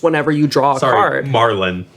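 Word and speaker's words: Marlyn: Marlin. Marlin? Like the Marlin. fish. Oh, is it? Is that beneficial? Yes. It's spelled with a Y. It's spelled M-A-R-L-Y-N. M-A-R-L-Y-N. Right. Oh, yeah, okay. It's not M-A-R-Y-L-Y-N. Unless you like really pronounce the L.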